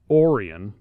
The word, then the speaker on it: Orion: up now their oldest son spelled Orion but pronounced Orion was born July 17th 1825 he would go on to be quite successful in st.